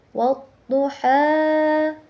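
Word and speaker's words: وَالضُّحَىٰ: Di situ terdapat hukum tajwid alif lam syamsiah karena alif bertemu dengan huruf syamsiah, dibacanya itu ditasydidkan.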